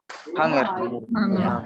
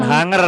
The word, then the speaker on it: hunger: Hunger. Bukan hunger bacanya. Bacanya hunger. Ya. Hunger. Nah, jadi g ya. G-nya dibaca.